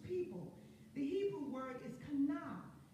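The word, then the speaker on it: קנא: The Hebrew word is kana, spelled Q-A-N-N-A, but pronounced kana.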